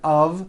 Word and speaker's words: of: Even though the word of is spelled with an F, we pronounce the word of with a voiced V.